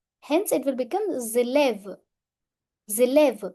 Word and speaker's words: élève: Je suis élève. I am a student. Élève means student. Here, S will overtake the sound of E. Hence, it will become élève. Élève. In liaison, S changes to Z sound.